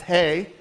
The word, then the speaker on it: He: up as a letter it looks like he but it's actually pronounced hey hey like it hey